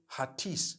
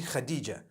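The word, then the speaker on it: Hatice: t i c e I would say hatis for that no it's actually Khadijah in Turkish that's the way they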